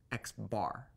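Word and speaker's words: x̄: You will commonly see the mean of the data set notated like this, which we pronounce as x bar.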